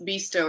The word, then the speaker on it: BISTO: So think about it's BISTO is how we pronounce it.